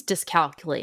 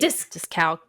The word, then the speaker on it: dyscalculia: Oh, I don't have that, but It's dyscalculate. Dyscalculia. dyscalculia? Yes, there you go. I can't pronounce it.